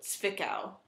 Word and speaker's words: Zwickau: And the W's are pronounced as a V. So Zwickau.